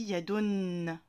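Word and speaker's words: يدٌ: Et au niveau de la prononciation, c'est de prononcer la dhamma en rajoutant le nun. Yadun.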